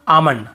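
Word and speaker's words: almond: होगा काम बाम पाम और आमंड ऐसे आलमंड आलमंड नहीं पढ़ेंगे ठीक है आमंड आवला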